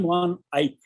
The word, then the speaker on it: Van Eyck: But here, Jan van Eyck, these were two brothers, Jan van Eyck, and another was Hubert van Eyck. They are pronounced as Van Eyck also by Dutch people.